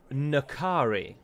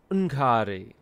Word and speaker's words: N'Kari: People say Nkari. People are wrong. It is Nkari. It is subtler. It is not a standalone singular sound, to my mind.